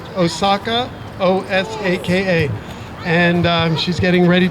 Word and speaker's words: Osaka: Last name spelled like what us Americans would say, Osaka, O-S-A-K-A.